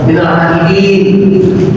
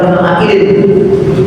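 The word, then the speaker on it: من العائدين: Ya, maka bacanya mesti pakai panjang. Minal aidin, bukan minal aidin wal faizin, bukan minal aidin wal faizin. Karena jamak, bentuk jamak dia.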